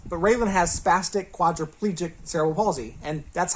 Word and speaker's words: cerebral palsy: Anyway, all that being said, the official pronunciation for this term, according to the dictionary, is cerebral palsy. Cerebral palsy. Now, that's interesting to me because I've always said cerebral palsy.